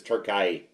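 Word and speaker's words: Türkiye: Turkai or Turkey, but that's the new way to pronounce. Yeah, that's the new pronunciation is Turkay.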